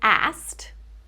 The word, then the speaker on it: asked: This word isn't spelled with three consonants in a row. It's actually the ending is s k e d, right? So, we do have a vowel letter there, but there is no vowel sound.